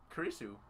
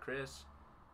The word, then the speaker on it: Kurisu: which he doesn't say Chris. Right. Because that's her last name. Kurisu, not Chris. Yeah. We talked about this too. That's how the Japanese pronounce Chris, because they can't say Chris, they say Kurisu.